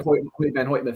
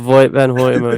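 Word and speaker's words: Hoyte van Hoytema: I mean, it's kind of Hoity, hoity, pronounced like hoit.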